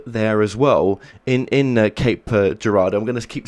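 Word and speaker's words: Cape Girardeau: uh creative interpretations but Cape Gerardo is how we pronounce it here in Missouri good good good did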